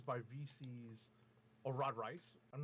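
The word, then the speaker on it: Reis: By Vita Ayala, with art by Rod Reese, letters by VC's Rod Rice. I'm not 100% sure. I heard it pronounced Reese the other day on a podcast, a Marvel podcast.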